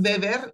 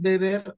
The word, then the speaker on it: Weber: tarde okay Bueno Max beber y ojo se dice beber porque en Alemania la W no se pronuncia como G sino como como labiodental OK Bueno pues Max